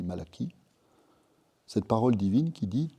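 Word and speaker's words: Malachie: Ça s'écrit Malachi, on dit Malaki.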